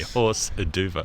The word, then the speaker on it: hors d'oeuvre: Yeah, when you consider that when it was played as a hors d'oeuvre, horse d'oeuvre. The correct pronunciation in French is a horse d'oeuvre.